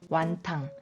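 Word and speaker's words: 雲吞: 자, 국물이 있는 만두, 이게 혼툰이라고 하고 우리에게는 홍콩식 발음이 조금 더 익숙하실 거예요. 완탕.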